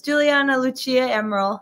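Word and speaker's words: Giuliana Lucia Amaral: that's just at uh g-i-u-l-i-a-n-a l-u-c-i-a amaral a-m-a-r-a-l says juliana lucia emerald that's a pronunciation in case anyone was wondering thanks so much for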